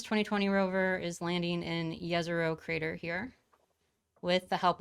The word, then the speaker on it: Jezero: it might be pronounced jezero but it's actually pronounced yezuro yazaro with a y sound so the mars 2020 rover is landing in yezero crater here with the